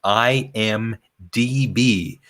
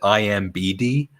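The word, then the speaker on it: IMDb: database and and please tell Cora it is pronounced I am DB in many of the shows she says I am BD it's it's a simple mistake but she still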